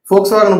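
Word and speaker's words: Volkswagen: ஃபோக்ஸ்வாகனை பற்றி சொல்லும் பொழுது நம்ம எழுதும் போது தான் பார்த்தீங்க அப்படின்னா வி வரணும், VOL வரணும். பட் ப்ரொனவுன்ஸ் பண்ணும்போது, உச்சரிக்கும் போது பார்த்தீங்க அப்படின்னா ஃபோக்ஸ்வாகன் அப்படின்னு F தான் வந்து வரணும், அப்படி தான் வந்து உச்சரிக்கணும்.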